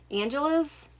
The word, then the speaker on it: Angeles: And this is Where Dreams Descend by Janella Angeles, I think is how you say the last name. It looks like Angels, but then it has an extra E in there. It throws me off.